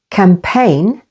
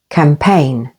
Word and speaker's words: campaign: though and way and before n in these words campaign with the stress on the second syllable campaign foreign with the stress